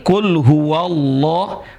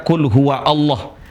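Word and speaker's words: قل هو الله: Dia terbaca di awal saja Allah. Tapi ketika di tengah huruf dia tidak terbaca ya. Ahadullah. Contoh di sini qul hua Allah.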